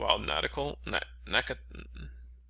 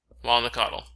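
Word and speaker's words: Wild Nacatl: Wild Natical? How the hell do you pronounce it? Wild Nakatal? Wild Nakatl.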